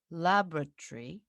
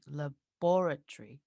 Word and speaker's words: laboratory: this word as a laboratory but it was supposed to be laboratory wow the stress is the stress syllable is different it moves exactly oh oh that's